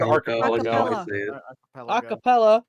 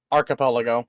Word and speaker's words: archipelago: how to pronounce it it is traditionally with the hard G I don't even know